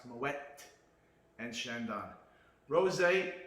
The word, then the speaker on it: Moët: T is pronounced Moët and Chandon.